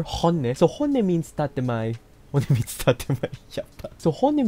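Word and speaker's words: 本音: So honne, say it like the Spanish you are, honne.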